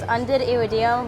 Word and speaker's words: Undidiridium: I try to add a hyphen with Undid and Iridium part, but it's Undidiru.